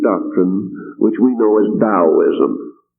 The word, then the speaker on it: Taoism: which we know as Taoism, pronounced as though it was spelled with a D, but actually spelled with a T. So it is spelled Taoism and pronounced Taoism.